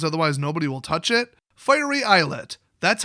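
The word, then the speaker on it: Fiery Islet: by valuable lands otherwise nobody will touch it finery eyelet that's how you pronounce it everybody on YouTube so these are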